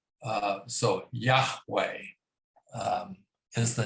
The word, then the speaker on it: Yahweh: to me well um in hebrew and in other languages like uh german for instance j is pronounced like a y uh so yahweh is the name that's